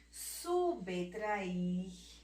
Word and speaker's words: subtrair: Outra palavrinha, mais outras palavras, subtrair, subtrair. Ó o Bzinho aqui, o B mudo, sem a vogalzinha que está na sua frente. A gente não tem a vogalzinha aqui, então é o B mudo, então é uma letra muda, viu? Porque ela não tem a